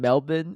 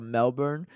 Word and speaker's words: Melbourne: you guys keep saying Melbourne instead of Melbourne so so that's how they pronounce it in Australia right because uh like